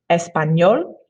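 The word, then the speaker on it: español: the letter is and it kind of sounds like the um n in the english word onion it sounds like an n with a y next to it in english please repeat espanol espana okay r can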